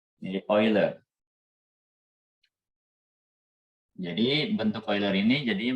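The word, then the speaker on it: Euler: kalian bacanya gimana nih sebenarnya bacanya bukan e ya bentuk eh e senya bacanya bukan e ya tapi BAC Bu orang Inggris bukan oiler jadi bentuk oiler ini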